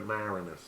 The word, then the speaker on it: Maraniss: and I could never remember exactly how to pronounce it Dave manassas Moranis something like that David Maraniss but it was an unbelievable documentary this guy